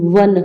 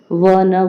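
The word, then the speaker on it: one: फिर उसके बाद है वन साइडेड गेम वन व आ रहा है व से व न वन आ रहा है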